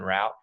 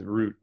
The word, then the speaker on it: route: united states uh root is more common than rap but they're both acceptable my personal preference is root let me write it